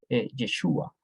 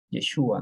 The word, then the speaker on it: Yeshúa: traducido no en realidad el nombre correcto es yeshúa yeshúa no Pero obviamente con